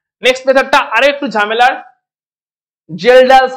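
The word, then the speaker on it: Kjeldahl: মেথডটা আরো একটু ঝামেলার জেলডালস মেথড কে টা সাইলেন্ট আছে এক্সপেরিমেন্টাল সেটআপ টা একটু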